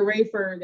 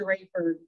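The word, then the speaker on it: Raeford: the west side out near rayford and we're in the sandhills and when i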